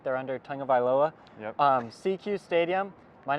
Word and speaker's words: SECU Stadium: We're coming at you live from CQ Stadium, which I thought was SECU Stadium until we read the pronunciation guide. It's right there under Tagovailoa. Yep. CQ Stadium.